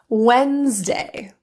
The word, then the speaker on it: Wednesday: When you see that happen, typically the D is silent. Here are some examples of the silent D. Handsome. Wednesday.